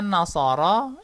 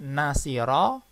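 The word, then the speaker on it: نصر: fa'ala yaf'ulu jadi contohnya nashoro yansuru Ini bacanya bukan nashiro Yen Siro Bang seperti itu tetapi wajahnya nashoro ini Nanda lihat harokatnya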